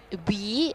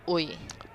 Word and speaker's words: Wee: So someone just said that KT, the surname is Wee and not Ui.